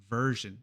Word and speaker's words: version: Unas como information, information, que pronunciamos shin, y otras como version, version, que pronunciamos jin.